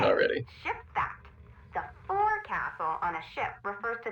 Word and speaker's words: forecastle: of a sailing ship, but it's pronounced forecastle. Why's that? Try pronouncing it like an English sailor with no formal education. Forecastle. Forecastle. Over time it whittled down.